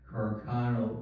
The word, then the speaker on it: Carcano: Now, I think I'm pronouncing it correctly, but people normally just refer to it as the Carcano rifle, Carcano.